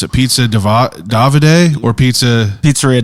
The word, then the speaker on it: Davide: know that so first off how do you pronounce it pizza davide or pizza pizzeria davide davide yep okay there you go see i